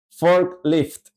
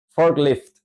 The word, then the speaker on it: forklift: entender de forma apropiada la acentuación está al principio tenemos que incrementar nuestra